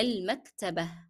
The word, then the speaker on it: المكتبة: So in the first trial, I read المكتبة with the kasra because I'm just reading the word. However, when I am reading it in the sentence and I stopped on it, I dropped the pronunciation of ta marbuta as ta and I replaced this with he. And I also dropped the pronunciation of the short vowel kasra.